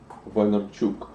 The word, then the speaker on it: Vaynerchuk: So I want to talk about Gary V and start with your connection to Gary Vaynerchuk. Vine in the very vinyl kind of way. In Russian, you would pronounce it Vaynerchuk.